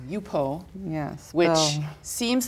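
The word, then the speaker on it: Yupo: And you told me once there's a paper called UPO, Yes.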